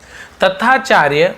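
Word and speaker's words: Tathacharya: बहुत से कैसे तथाचार्य भी पढ़ते हैं, बट डबल टी है तो आधा त ऐसे त आधा त और टी एच का था बन जाता, तथ्या ऐसे हो जाएगा ना, ठीक है।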